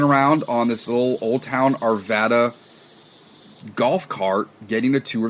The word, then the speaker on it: Arvada: correctly it was yes it's Arvada like like Nevada like the state of Nevada so it's Arvada um it was formed